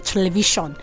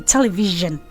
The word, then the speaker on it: television: Okay, and then this one people mispronounce regularly. Television. It's supposed to be television.